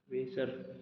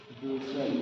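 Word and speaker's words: Weser: पहला वेजर नदी, देखिए वेजर WEIJER, वेसर। ठीक है। बीसर बीसर बीसर वही है ना सर?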